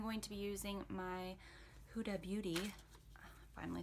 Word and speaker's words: Huda Beauty: I'm going to be using my Huda Beauty, finally said it right for the first time ever, and Santorini.